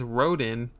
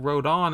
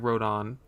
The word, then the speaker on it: Rodin: I thought his name was Rodin, but Rodon is how it's pronounced by everyone on YouTube, so that's got to be it.